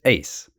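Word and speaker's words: εἰς: It's actually epsilon iota sigma, which is ace. And so you're looking at this preposition that's ace, which means into, or, in the idea of going into a room.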